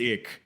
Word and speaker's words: ich: the german word for i and that is pronounced ick so okay yeah uh but yeah so it's